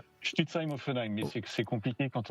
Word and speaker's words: Stutzheim-Offenheim: Le tennis club de Stame Ofenheim. Ah non, ça c'est mal prononcé ça.